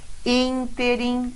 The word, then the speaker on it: Ínterim: Ínterim, olha lá, é a antepenúltima, proparoxítona.